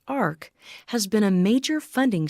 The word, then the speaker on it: AHRQ: Healthcare Research and quality known by the name of AHRQ and pronounced Ark has been a major